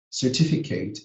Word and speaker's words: certificate: But if the words, think like this, if the word ends in ATE, but it has 2 or more syllables, then the ATE is not going to sound ate. It's going to sound it.